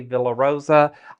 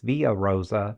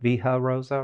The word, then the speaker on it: Villa Rosa: It's via Rosa. Vha Rosa, right? Because you don't pronounce the L's.